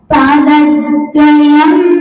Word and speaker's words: पादद्वयं: पक्ष्मल देह देशः पादत, पाद के बाद आधे दा का उच्चारण करेंगे। पादत द्वयम तव विभो भुवि जन्म भाजः पादद्वयं तव विभो भुवि जन्म